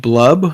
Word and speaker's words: Blub: I might have played Blub, who rhymes with Brub sometimes, who can jump out and attack for 5 dice really quick.